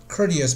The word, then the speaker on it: courteous: 那么这个词呢有点难，可能啊，叫做我们看一下它的音标啊，读 courtesy, courtesy, OK, courteous behavior, good manners, 它是礼貌、客气的意思啊，OK。那么 courtesy 的话呢，我们知道是一个 noun 名词，那么它的这个形容词呢是就是在下面这个词，OK。下面这个词，so how to pronounce it？